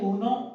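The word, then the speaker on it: uno: अच्छा जी, सबसे पहले ऊनो, ऊनो के स्पेलिंग इसको किस तरह हमने प्रोनाउंस करना है,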